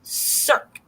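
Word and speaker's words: cirque: is actually a geological erosion Circ and that's how you pronounce it because I looked it up it's erosion Circ so they're calling it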